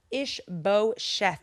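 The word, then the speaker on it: Ish-bosheth: We've got Team David and we've got Team IshBosheth.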